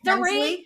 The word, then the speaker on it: Dorit: But then also with Erica on Real Housewives of Beverly Hills, Dorit Kempsey, how do you pronounce it? Dorit, yes.